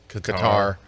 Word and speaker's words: Qatar: wife got me for Christmas a trip to Qatar or Americans would pronounce it Qatar but uh anyway I've decided not to go